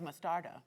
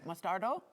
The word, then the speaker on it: mostarda: That's why you have mostarda. Correct. Mostardo?